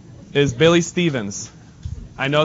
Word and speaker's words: Stevens: My name is Billy Stevens. I know it's pronounced Steffens, but you know what?